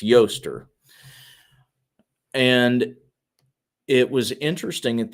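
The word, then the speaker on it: Ēostre: Actually, that is the pronunciation. It's Yoster.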